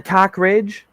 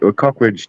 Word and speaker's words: Cockridge: and like a Cockridge? Yeah, Cockridge, definitely, yeah. Oh my God, that's But I don't think it's pronounced Cockridge. I think it's more one fluid word, like Cockridge.